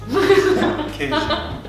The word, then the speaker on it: queijo: How do you say cheese in Brazilian? Queijo. Sorry, queijo. I said Brazilian, but it's Portuguese. Portuguese.